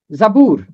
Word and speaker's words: زبور: آسان ہے۔ ایوب، ایوب۔ زبور، زے کے اوپر زبر ہے، بے کے اوپر پیش ہے، زبور۔ امثال، اس کا تلفظ